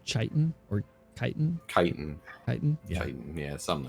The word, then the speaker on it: chitin: The armor is more akin to like, to pronounce chitin or chitin? Chitin. Chitin?